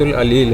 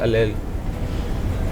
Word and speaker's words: اللیل: قرآن مجید کی وہ سورۃ العلیل ہے. سوچ لیجئے تھوڑا سا اور. سورہ اللیل، الف لام یہ لام. جواب آپ صحیح دے رہے ہیں لیکن تلفظ آپ صحیح ادا نہیں کر پا رہے.